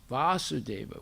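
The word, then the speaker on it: Vāsudeva: referring to krsna's father when it's vasudeva with a long a that's referring to krishna the son of vasudeva okay and and sometimes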